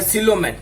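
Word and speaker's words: coelom: तो ये क्या हो गया, सिलोमेट। क्या पढ़ोगे इसको, सिलोमेट। इसको क्या पढ़ोगे, सिलोम। वो साइलेंट रहेगा, सिलोम। बॉडी कैविटी को सिलोम कहते हैं।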